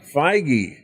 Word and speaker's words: Feige: determined and that's a kevin how do you pronounce his name i was looking up jd dillard uh kevin feige feige okay so kevin feige is also getting his